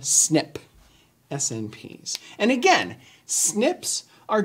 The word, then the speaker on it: SNP: we abbreviate this snp but we also pronounce this one snip snps and again snips